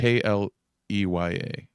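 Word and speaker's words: Kleya: It rhymes with Leia, which I think is weird because she kind of looks like Carrie Fisher. She kind of looks like Princess Leia Yeah. in a weird way. So it's strange to me that they have a name that rhymes with Leia or sounds like Leia.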